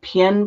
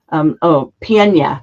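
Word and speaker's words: Pień: So there was an investigation and a grave site that was located in, am I saying this right, Doug? Pien, Poland? I'm not saying it right. Pienia is the way it's said.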